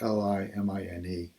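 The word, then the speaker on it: in limine: right, which is, and there's a couple ways to pronounce this, Limine, and they give you Black's Law Dictionary here, but anyway, it says in limina, it is a preliminary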